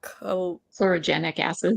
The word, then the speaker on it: Chlorogenic acids: So polyphenols, CGAs or Kim, I'm going to let you how do you pronounce that? Chlorogenic acids.